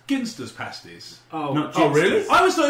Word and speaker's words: Ginsters: worry it happens all the time speaking of pronunciation I only just learned this the other day it's ginster pasties oh I always thought it was giner and then I saw an where it was